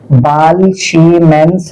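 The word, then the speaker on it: Balz–Schiemann: Pronounce इसको इसी तरीके से किया जाएगा। बालशीम्स रिएक्शन।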